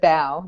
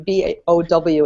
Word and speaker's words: bow: at that I see I see b o w it's pronounced bow not Bo uhuh uhuh the the